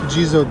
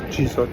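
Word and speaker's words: Jizō: Apparently, it's Jizo Temple. probably not pronouncing it right. I think Jiz it has a a line over the O. So it's a long longer O elongated vow.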